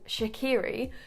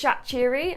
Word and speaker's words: Shaqiri: By the way, I pronounced his name Shaqiri for the longest time, and actually UEFA released a full phonetical list of player names, and from that list I learned that, yeah, it's Shaqiri and it's not Shaqiri.